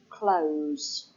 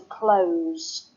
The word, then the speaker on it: close: you can follow that if it's a verb then the sound is a said sound as with the word closed okay if you ask someone to close the window it says that sound but if you have an S sound it will probably be either an adjective a noun or an adverb so that if you have I like to sit close close to the window that's an adverb close